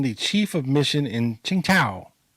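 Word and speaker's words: Tsingtao: chief of mission in chinga chinga like the beer like the beer Nice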